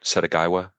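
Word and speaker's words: Setagaya: Did I pronounce that right? Setagaiwa? Yeah.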